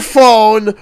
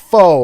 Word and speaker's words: pho: No, just full blast on their phone watching screaming videos while eating soup. I wish I was lying. In fact, we'll be more specific. Pho or pho, depending on how you pronounce it.